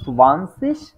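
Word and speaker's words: zwanzig: নয়েনসেন Schwann cis হ্যাঁ এটা হচ্ছে মূলত উচ্চারণটা সুবান্সিস তবে শুরুতেই হচ্ছে আমি যেটা বলেছিলাম সুবাই এর সাথে যে ভেটা আছে এটা একটু উচ্চারণ করা ডিফিকাল্ট যার কারণে হচ্ছে আমি সরাসরি এখানে সোয়ানসিস লিখে রেখেছি ঠিক আছে ওকে আপু জি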